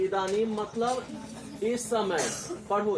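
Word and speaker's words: इदानीम्: इदानीम मतलब इस समय, पढ़ो इदानीम, इदानीम इस समय।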